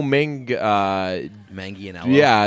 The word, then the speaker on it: Manganiello: yeah by the way do you know that's not how you say his name we've been so we've said his name wrong a lot of times like on purpose we called him like Joe man jello ball it's Joe mingi Maggie you know yeah it's